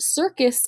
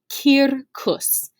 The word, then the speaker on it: circus: that you're familiar with it is not however pronounced circus in latin it is pronounced kirkus and it means a